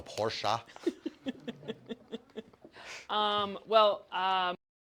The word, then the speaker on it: Porsche: uh Porsche yeah por Germans would be so mad if I say it wrong it's a Porsche um well um